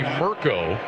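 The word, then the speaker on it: Mirco: I called him Micro. It is Jesse Mirko, M-I-R-C-O, that will try to pin Notre Dame deep as Brandon Joseph goes back deep to return. So Mirko, the Australian, will let the play clock run out.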